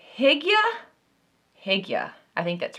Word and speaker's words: hygge: But I think a few of you say hig-yuh, hig-yuh. I think that's right. And we've gone back and forth, and it might just be my Southern accent. I have to like focus to say hig-yuh, hoo-gah.